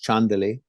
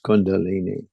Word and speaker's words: chandali: Tibetans, the Buddhist word is chandali. Hindus mispronounce as kundalini.